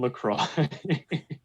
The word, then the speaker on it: LaCroix: Yeah, and it is lemon LaCroix. I think that's pronounced La Croix.